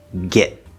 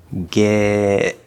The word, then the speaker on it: get: of where'd this is normally if there's no connection it would normally be a glottal stop t get get we hear that cut